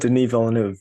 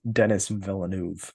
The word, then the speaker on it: Denis Villeneuve: He said Denis Villeneuve. Very interestingly, I think it was Dennis Villeneuve or something.